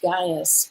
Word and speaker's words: Gaius: It says, "The elder to the beloved GAIUS," or Gaius, some people pronounce it, "whom I love in truth.